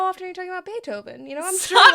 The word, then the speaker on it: Beethoven: It says B A Y um bullet t O W V N. So, Beethoven, don't say it like that to me.